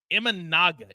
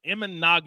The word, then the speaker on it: Imanaga: out absolutely lights out and eminaga imanaga is how you say his name but his erra is